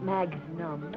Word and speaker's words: magnum: Why don't you stick with what you've been drinking, Charlie, and it's pronounced magnum.